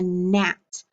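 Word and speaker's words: gnat: r all right and for g n you can think of the insect a nat because nat starts with that dn so we'll say net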